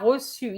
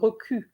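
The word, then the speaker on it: reçu: had that word and most of the students said roku instead of rossu so please remember when you have a cedelia with a u you cannot have the word ku it has to be the word the sound su hilaro he received okay hilaro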